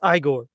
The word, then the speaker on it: Igor: So it's pronounced Iiggore.